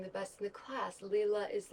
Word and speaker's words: Lila: Or Lila, I think is actually how you pronounce it, because it's Italian.